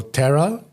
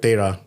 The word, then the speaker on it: Tera: So Tera is how we pronounce it in English, but in Punjabi you call it Tera.